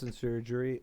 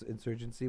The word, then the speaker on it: Insurgency: chaos and surgery its insurgency will now be eliminated everybody with the name chaos and surgery right now ban them from the server right now you're saying it wrong it's insurgency insurgency there you go oh